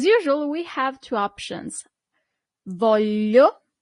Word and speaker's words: voglio: Voglio, with that difficult sound, l, voglio, literally corresponds to I want.